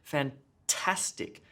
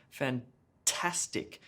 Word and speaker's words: fantastic: first syllable in robot fantastic fantastic emphasis on the middle syllable there tas gets the emphasis helicopter helicopter emphasis on